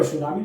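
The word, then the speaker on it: tsunami: और सुनामी का अगर स्पेलिंग कोई पूछे कि परीक्षा में पूछ जाता है कि सुनामी का चीज बताइए, टी साइलेंट होता है, टी पायलट क्या, सुनामी लिखिए, SUNAMIS हो गया सुनामी।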